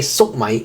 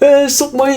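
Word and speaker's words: 粟米: You say sok mai. Oh, how do you say corn in Cantonese? Sok mai. I get it. You know how to say corn in Cantonese. Stop. Sok mai is how you say corn in Cantonese, but for specifically like more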